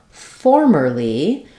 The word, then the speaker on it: formerly: So for the word formerly, we stress on the for syllable, and it has the true or diphthong.